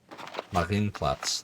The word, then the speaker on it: Marienplatz: Marienplatz.